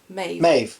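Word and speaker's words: Maebh: oh god oh yeah May spell m-a-e-b-h never seen that spelling before I was like yeah babe are those Maeve yes Maeve it's pronounced Maeve like Neve for example Neve n uh a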